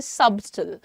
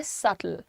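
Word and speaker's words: subtle: तो कभी-कभी जिन्हें नहीं मालूम होता वो कहते हैं सबटल। लेकिन सबटल नहीं है इसका प्रोनंसिएशन। इसका प्रोनंसिएशन है सटल। सटल।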